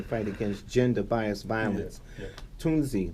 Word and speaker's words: Tunzi: Tunzi, that's how you say her name? Tunzi, yeah.